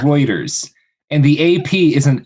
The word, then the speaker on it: Reuters: It's not It's It's not Ruters. No, it's Reuters.